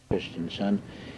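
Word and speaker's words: Christiansen: oh yeah anything well put it on stop Christian son and that is spelled last name c h r i s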